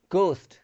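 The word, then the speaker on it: ghost: वैसे आवर, आवर मतलब होता है घंटा, आवर, आवर, ठीक है, एज साइलेंट रहता है। यहाँ पे गोस्ट, गोस्ट मतलब भूत, गोस्ट, ठीक है।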